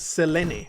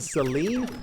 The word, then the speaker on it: Selene: Just try to stun lock the boss, which is Selene. That's how it was pronounced. Oh no. Why? They pronounce it like this in the game? Selene instead of Celine?